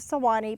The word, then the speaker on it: Swanee: at river names, and this is where Stephen found the Swanee, spelled with 3 syllables. He needed 2 syllables. Being the poet that he was, he used the Swanee but spelled it S-W-A-N-E-E to get the 2 syllables.